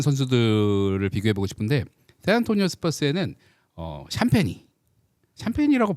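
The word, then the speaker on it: Champagnie: 보이지 않는 것에서 묵묵하게 해줘야 되는 선수들을 비교해보고 싶은데, 샌안토니오 스퍼스에는 샴페니라고 발음하는 게 맞나요, 이 선수? 네, 샴페니.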